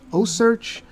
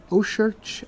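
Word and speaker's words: OCEARCH: O search. Ourch. O C A R C H. I believe they were trying to combine ocean and research. Research. So Oarch.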